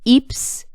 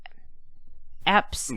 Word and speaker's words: Epps: Eeps sees... Eps. That was one of the worst mispronunciations of a character's name yet. Listen. It's just one E. E-P-P-S. Yeah, but every time I see it, I think of Eek.